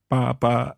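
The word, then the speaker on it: 八: Ba in Mandarin we pronounce as ba. However, in Cantonese is fa.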